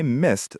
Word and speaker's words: missed: I missed the bus. Make sure you hit the T sound at the end of missed. It is a past tense verb ending in ed, but it sounds like a T.